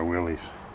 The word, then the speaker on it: Willys: get oil all over my Willies or Willis as some people say I think that's the proper way to say it or in this one's